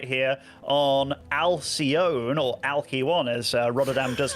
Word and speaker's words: Alcyone: Spawning over in the top right here on Alcyone, or Alky1 as Rotterdam does like to call it, it is Elazer. I believe it's pronounced Alcyone. I think that's it.